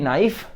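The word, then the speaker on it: knife: नाइफ का आपको मतलब पता है, के इसमें साइलेंट है, NIFE नाइफ।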